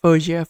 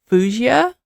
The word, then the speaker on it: Faouzia: But yes, did I say her name right? Fauzia? Someone sent me this YouTube link about how to say her name and she's like Fauzia, Fauzia, Fauzia. Now sometimes I guess people do say Fuazia, like two foo, but Fauzia. That's the main thing.